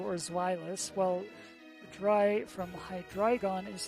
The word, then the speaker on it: Hydreigon: Zweilous, while Dry from Hydreigon is 3, all pronounced with the I syllable.